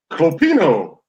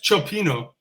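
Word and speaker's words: Cioppino: Clopino. No, that's Clopino. that's Chopino, and that's actually worthy of the conversation.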